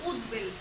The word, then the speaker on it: উদ্বেল: আমরা উচ্চারণ করার সময় কিন্তু উদ খণ্ড বা এভাবে বলবো উদ্বেল, অর্থাৎ এই এভাবে উচ্চারণটা এইভাবে হয়, উদ্বেল, উদ্বেল, অর্থাৎ বয়ের উচ্চারণটা বজায় থাকে।